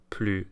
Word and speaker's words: plus: Because with comparisons, the S is silent before a consonant, regardless of the meaning of the word. So more expensive is plus cher, and taller is plus grand, and shorter is plus petit, right?